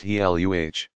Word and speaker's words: Gila: Two lizards are known to inject venom into their prey, the Gila, pronounced Heluh, monster and the Mexican beaded lizard.